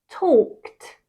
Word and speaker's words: talked: overe exaggerate a little bit okay talk becomes talked talked laugh becomes laugh laughed kiss becomes kiss